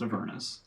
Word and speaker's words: Avernus: earnest, which are It's Avernus. It's pronounced Avernus.